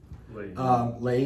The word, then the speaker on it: Leahy: Leahy, is that how you say it?